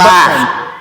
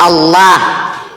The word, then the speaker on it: Allah: Allah. Hah? Alif, lam, lam, ha. Pelafalannya adalah Allah. Bukan Allah.